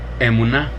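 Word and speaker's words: אמונה: Dice que se pronuncia emuná. Emuná es cómo se pronuncia la palabra fe.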